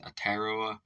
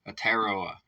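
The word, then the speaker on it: Aotearoa: he said at ataria is that how that's pronounced atoa atoa okay that's how it is AOA is what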